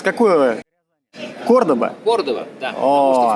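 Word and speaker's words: Córdoba: прямо с Ээ товарищ Кордоба ты откуда с какого кордоба кордова да потому что в принципе мы настоящие мы настоящие испанцы говорим Кордова кордова потому что по-испански правильно кордова понял хотя в принципе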